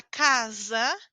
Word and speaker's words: casa: Mas a letra S, quando ela está entre duas vogais, eu faço a pronúncia Z. Z. Os seus dentes de cima e de baixo precisam como que vibrar.